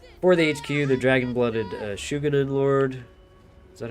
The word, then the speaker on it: Shugenin: We got for the HQ the Dragon-Blooded Shugenin Lord. Is that how you say it? Shugenin?